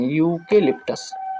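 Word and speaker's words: eucalyptus: इसको क्या पढ़ते हैं यूकेलिप्टस यहां इ है लेकिन उसका उच्चारण क्या होता है? यूकेलिप्टस। तो यू आ रहा है, य आ रहा है तो यहां पर क्या होगा?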